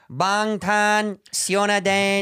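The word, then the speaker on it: 방탄소년단: Bangtan Sionadan.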